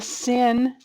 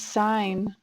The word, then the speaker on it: sine: one is a what it's not a sin it's sign there's no sins in